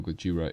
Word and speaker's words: Gojira: rather it you know Gojira is after all um the proper pronunciation of Godzilla all right you see